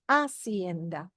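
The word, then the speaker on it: hacienda: my family's Henda and remember you do not pronounce the h so it would be aend in English page number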